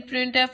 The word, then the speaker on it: printf: The function प्रिंट एफ is pronounce as सी प्रिंट एफ।